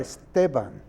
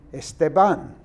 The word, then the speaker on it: Esteban: In Spanish, if there's no accent, it's the next to last syllable that is emphasized. Right. Esteban. Yes. But I hear people on television in the sports programs saying Esteban.